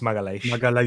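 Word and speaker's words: Magalhães: You know, how do you pronounce his last name? People say I say some random thing. Magalhaes. It's Magalhaes.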